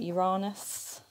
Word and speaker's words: Uranus: you jupiter saturn neptune uranus or i think we're now pronouncing it uranus because people like me